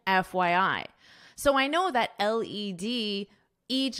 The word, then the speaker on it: LED: It's LED, LED screen, not LED. So you pronounce this as the individual letters.